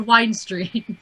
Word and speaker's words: Wine Street: Yes, it's actually called Wine Street, but it's spelled like wind.